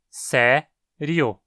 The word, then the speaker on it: sério: No Brasil, consideramos que essa palavra tem apenas 2 sílabas, sé-rio.